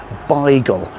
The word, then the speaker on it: Beigel: The East End Jewish pronunciation was and is Beigel, B-Y-G-E-L, as opposed to the more normal pronunciation bagel, which you'd say was like B-A-Y-G-E-L.